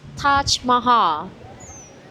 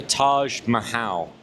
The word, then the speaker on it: Taj Mahal: It is Taj Maha. Yeah. So, the Taj Mahal.